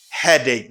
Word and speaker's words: headache: plus ache you say headache not headache very often i hear people say headache it's head egg head ache not a dick oh i have a